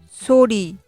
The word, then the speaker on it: 소리: 有の単語、固有語は、ソリと言います。